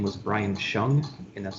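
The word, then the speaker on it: Hsiang: that's used uh the individual's name was brian shung and that's spelled h-s-i-a-n-g and then i had two other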